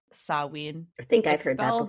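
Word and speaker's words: Samhain: It originally started out as a Celtic celebration called Sawin. I think I've heard that before. Yeah. Sam called Sam Hayne, but it's pronounced saw.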